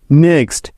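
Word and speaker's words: knock: জি আছে তাই এখানে জি টা সাইলেন্ট আছে নেক্সট কে সাইলেন্ট বা উজ্জ্ব থাকার নিয়ম এন এর আগে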